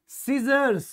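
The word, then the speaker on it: scissors: से ये है स यह हमारी क्या होती है सीजर तो यह जो हमारा एस है यह क्या है साइलेंट है यह जो एस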